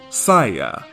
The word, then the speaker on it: Saiya: Take the letters for sa, I, ya will give you Saya.